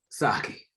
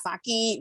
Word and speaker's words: sake: They were like, "Look, it is sake. It is not sake. We're tired of you people saying that it's sake. It's sake."